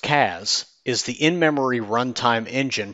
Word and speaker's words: CAS: SAS Cloud Analytic Services, pronounced CAS, is the in-memory runtime engine for SAS Viya.